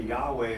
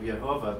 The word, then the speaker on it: Yehovah: Oh, because a lot of them will say Yahweh instead of Yehovah because right. They believe that the Vav is pronounced Wa, like a W.